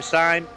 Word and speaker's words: Syme: Now then, big apology for Syme. I was calling him Simmy last week. Please accept my apologies, Syme.